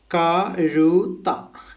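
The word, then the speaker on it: കഴുത: जेड एच ये यूज़ करते हैं। तो इसका प्रोनाउंसिएशन हम लोग इंग्लिश में लिखा जाए, पहले का, ये, जेड एच टी ये, कारुता। ठीक है, कारुता ऐसे प्रोनाउंस करना है।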